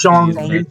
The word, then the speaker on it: Shang-Chi: It's Shang-Chi? Like the word song, but like a little bit slurred. Yeah, it's Shang-Chi.